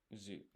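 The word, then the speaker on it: づ: And this is, by the way, this is do pronounced zu.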